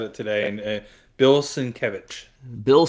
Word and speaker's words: Sienkiewicz: I said it correctly last time because Curtis said it today, and Bill Sienkiewicz. Bill Sienkiewicz, okay.